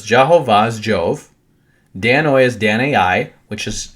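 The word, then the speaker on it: Danaoi: And if you understand that their languages would have been pronounced different, we look at Danoi and say Danoi, but what they look at is say Dan-ai.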